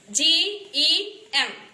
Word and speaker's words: gem: Here G, E, M, this is soft G and we have to read this as gem, not gem, gem.